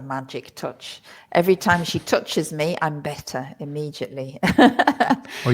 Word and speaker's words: touché: Well, the thing is it looks you you'll see that word in English and it looks like touch, but you shouldn't pronounce it as touch.